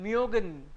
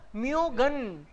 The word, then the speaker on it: München: उमलाउट से पहले अगर कोई कॉन्सोनेंट है, एम के M, this is consonant only, सो क्या बोलोगे इसको? München. म्योगन, म्योगन. ई एन इज अन, सो म्योगन, München.